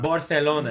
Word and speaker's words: Barcelona: Barcelona. Barcelona. Exactly. You have to say it like this.